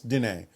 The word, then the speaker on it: Diné: I've gotten a book about a medicine woman from I hope I pronounce this right, the Diné people, the Navajo people. Yes, Diné, the Navajo, Diné.